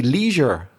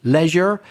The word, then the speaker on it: leisure: to focus on but the vowel is pronounced differently by Americans they say Leisure they do yeah so the same as you so that doesn't change but British Leisure American Leisure your leisure time another